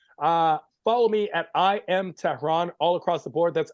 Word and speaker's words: Tehran: And my name is Tehran, like the capital of Iran.